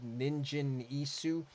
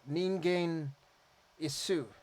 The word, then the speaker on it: Ningen Isu: correctly this time and every one of my previous reaction videos I've said Ninja ISU which I'm a dumb American I just see word I try to say it phonetically but I been told a couple of different ways to pronounce it um in the comments so ningain issue I think that's how you say it I'm trying um